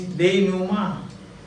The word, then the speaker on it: denouement: D-E-N-O-U-E-M-E-N-T. D-E-N-O-U-E-M-E-N-T. It is a long word, but they pronounce it denouement. While the pronunciation is Deinuma.